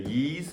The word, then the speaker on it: Ys: Listen to Yeez, which is spelled Y-S.